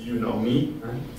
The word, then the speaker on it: Unomi: There's a software from the Apache Foundation called Unomi, pronounced as You Know Me, and it's used to capture data.